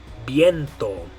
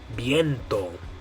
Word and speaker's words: viento: And the way you're going to say it in Spanish is viento. Viento. Viento. Okay, so in English we'd probably say viento or something like that. But in Spanish you're going to say viento. Good.